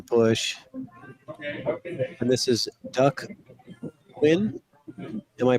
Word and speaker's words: Huynh: And this is Duck Quinn. Am I pronouncing the name right? The English way is win.